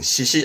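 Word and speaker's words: 嗣子: 이 한자는 발음은 시시 하는데 이 사자는 이어갈 사람, 이어갈 자식, 즉 대를 이어갈 아들 보고 시시라고 씁니다.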